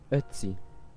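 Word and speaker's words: Ötzi: Now, I don't think I'm pronouncing that right, so you'll kind of just have to Here's the pronun- Here's the correct pronunciation of his name. Otzi.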